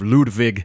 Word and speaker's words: Ludwig: They actually call him, I believe, Ludwig, but I sort of say it like the actual German, pronunciation of Ludwig.